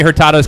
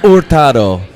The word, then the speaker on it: Hurtado: We're gonna get you to say Hurtado. No. Hurtado. Hurtado. In Spanish, Hurtado. In American, Hurtado. Yeah. Hurtado Or Hurtado. you don't really pronounce the H.